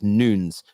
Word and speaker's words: Nunes: I couldn't get upset writes Nunes um I've been told by a few Portuguese people is how you pronounce it properly conversation is out but